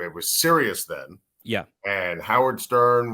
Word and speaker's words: Sirius: Cyrus? How do you pronounce it? I'm like, no, it's Sirius.